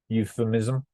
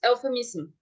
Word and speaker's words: euphemism: see there um the for the first syllable is a stress because we say you is there's that little